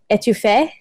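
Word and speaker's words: étouffée: how you say it and it's the crab etouffee French yeah that's what I saw - so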